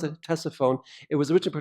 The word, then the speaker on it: Ctesiphon: One of its great capitals is along the Tigris River, and it's called Ctesiphon. Actually, we pronounce it Ctesiphon. It was originally pronounced Ctesiphon.